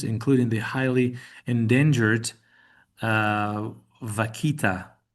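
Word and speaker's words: vaquita: citations, including the highly endangered uh vakita. That's the That's the good Spanish pronunciation of that.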